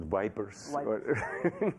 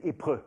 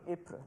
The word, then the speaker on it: Ypres: Ypres, or people sometimes call it vipers, which is not the right pronunciation. I promise. What is the French pronunciation? No, the French pronunciation is Ypres. Ypres.